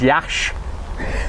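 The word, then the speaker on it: Iași: it looks like Lassie yeah yassi AI I say but it's yassi is the actual it's pronounced Yash it's a du party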